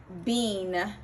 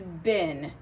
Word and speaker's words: been: It surely looks like we would pronounce it bean, like a bean that you eat, but it's bin, which sounds exactly like the spelling B-I-N.